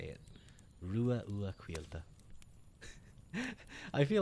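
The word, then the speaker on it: Ruadh Ua: I usually go like, like kangaroo, like, and then ah.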